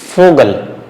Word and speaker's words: Vogel: So here you have to be careful with fowl. Okay. The sound is F. Vogel.